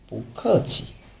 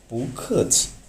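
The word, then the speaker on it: 不客气: ওকে, 10 নম্বর হচ্ছে পুখছি।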